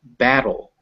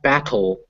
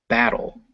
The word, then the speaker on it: battle: but remember that it's battle, not battle, battle. And it's not beetle, it's beetle. Beetle. Beetle. So you Beetle. hear how it's a D, it's a dull sound, not a tull sound.